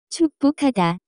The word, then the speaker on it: 축복하다: The pronunciation of this word is closer to. 축복하다.